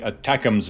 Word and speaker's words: ATACMS: Engineers from LTV (Ling-Temco-Vought), creators of such renowned vehicles as the A-7 Corsair II attack aircraft and the ATACMS (читается одним словом Атакмс) missile, were tasked with it.